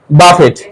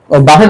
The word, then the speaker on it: buffet: BUFFET, বাফেট, right? No. বাফেট মানে জানো? Sir. Buffet money. বাফেট উচ্চারিত হবে না, তাহলে কি সঠিক উচ্চারণ কি হবে? Buffet. বুফে। কি হবে?